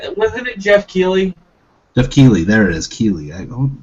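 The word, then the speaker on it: Keighley: uh produced by Jeff nightly Neely night I pronounce his name I always I don't know I I wasn't it Jeff key je key there it is key I I don't know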